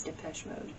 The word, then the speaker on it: Depeche Mode: like strange you know that no it's a dupage i don't know if that's how you say mode yeah i don't know how to say it but yeah it's depeche mode i thought it was the mode i don't